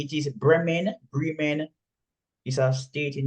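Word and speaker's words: Bremen: say again no b r e it is bman Brean is a state in Germany Bayan yes that's why it's pronounced not Brean it's Bay oh sorry you said bman sorry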